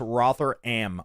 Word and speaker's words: Rotherham: there a is there a website Rotherham is pronounced rotheram oh excuse me excuse me a thousand pardons